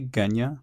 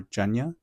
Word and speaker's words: Genya: people pronounce her name I say gya but I can also see the argument for GNA but to me gya just makes sense but and the thing